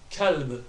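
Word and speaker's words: كلب: The kaf, lam and ba sound, they merge together, so kalb, kalb, kalb. Just make sure you get a slight ba sound at the end of it, and it should be okay.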